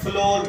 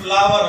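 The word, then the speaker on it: flour: की फैक्ट्री के ऊपर लिखा होता है फ्लोर मिल तो फ्लोर लॉस बिल्कुल गलत है हर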